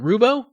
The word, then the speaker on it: Roubo: movie uh Jonathan roubo is it Rubo Rubo yep you got it ruh-oh Jonathan sorry I